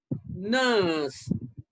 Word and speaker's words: nurse: a bit long okay nurse nurse nurse an indian in because we pronounce ra okay but in british we don't pronounce the letter r but not all the time